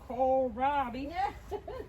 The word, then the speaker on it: kohlrabi: Alright, so we'll let Miss Shelly go get her kohlrabi. Kohlrabi, gotta say it right. Kohlrabi. See, I said I had the wrong accent because I'm Hispanic. I'm a Latina. I had it in the wrong spot.